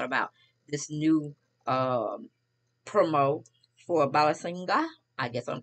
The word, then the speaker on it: Balenciaga: But it's Balenciaga.